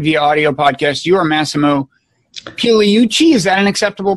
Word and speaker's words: Massimo Pigliucci: You are Massimo Pigliucci. Is that an acceptable pronunciation?